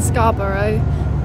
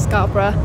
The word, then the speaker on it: Scarborough: Well, I'm here in Scarborough. That's how you pronounce it, not Scarborough. There's a place in England called Scarborough, which is why I thought it was pronounced like that.